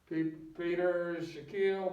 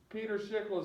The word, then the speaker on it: Peter Schickele: I've heard it pronounced Peter Schickele, Peter Shaquille, but it's Peter Schickele is the way I've heard him actually say it.